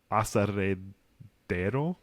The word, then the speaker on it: aserradero: Texans pronounce it, but in Spanish, it'd be aserradero.